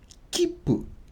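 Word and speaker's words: きっぷ: means train ticket so if you ever see a little tsu like this in a word you have to pause you don't pronounce it you just pause so keep keep let's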